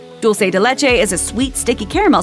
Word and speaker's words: dulce de leche: The word uses the Latin American pronunciation of dulce with a soft C, rather than the European Spanish ch sound, as it's believed to have originated in Argentina.